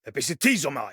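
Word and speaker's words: ἐπισιτίζομαι: Epizitizomai. But for the reconstructed ancient Greek pronunciation, it's commonly taught as a zd or a dz combination.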